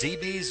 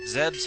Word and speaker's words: Zebes: but these days it's known as zebes or zebs however you want to pronounce it anyway let's get get